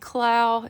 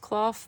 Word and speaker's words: Clough: I've always said Clow. It may be pronounced Clough, but I'm pretty sure it's Johanna Clow.